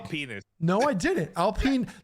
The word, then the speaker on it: Alpine: Alpine. That's how you pronounce the racing car.